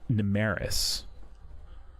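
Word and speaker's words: Nymmaris: So, it's strange that they that someone was so particularly interested uh the city of Namaris. NIS. That's NY. Yeah. Did you want me to spell it out for you?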